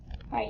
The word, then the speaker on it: right: We have the I-G-H-T, says ite. So ite. The G-H is kind of silent. Ready? Ite. But we spell it R-I-G-H-T. Let's find it. Right here.